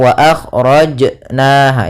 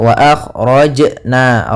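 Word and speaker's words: أخرجنا: akjna kemudian di sini lafal Jim ada bacaan qolqalah yaitu suara jimnya memantul akan tetapi hati-hati jangan sampai membantulkannya dengan saktah eh contoh wa akhjna itu saktah atau dengan eh apa namanya tambahan Hamzah Wa akhrojna rojna Ah akan tetapi dia Bagaimana cara membaca alqalqalah yaitu mengalir saja pantulannya mengalir wa akna wa akna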